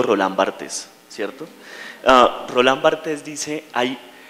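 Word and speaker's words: Roland Barthes: jamás he podido pronunciar los finos dicen Roland bte o Bart yo digo rolán bartz cierto rolán bartz dice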